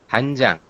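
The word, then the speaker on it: 한장: Nah, untuk mengejanya, berarti menjadi hanjang.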